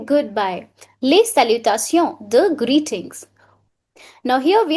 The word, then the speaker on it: salut: bon it's b nasal sound that's the correct pronunciation means hello or good morning sal I did not say salute sal last is silent sal or hi what is the Difference between salonjour.